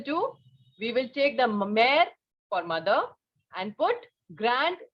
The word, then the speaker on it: mère: You just understand that wherever this letter E is written with such an accent on it, okay, accent or a line we can say, the pronunciation will be air, okay, like père, mère.